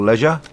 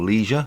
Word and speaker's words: leisure: Again, you can scroll through them at your leisure, or leisure as the Americans say.